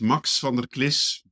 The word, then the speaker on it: Max van der Klis: What's the right way to pronounce that? I think you did wonderful. But it's Mox Vanderliss.